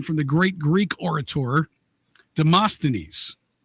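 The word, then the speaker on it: Demosthenes: of speech came from the great Greek orator Deamastines. Look at you pronouncing that right.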